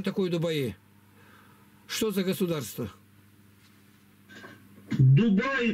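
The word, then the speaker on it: Дубай: Дубаи, правильно говорить. Дубаи, давай, правильно.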